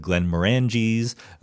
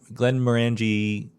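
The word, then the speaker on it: Glenmorangie: there's some very good Glenn morangis Glenn Glenn Mori or Glenn Mori I think it's pronounced um they have a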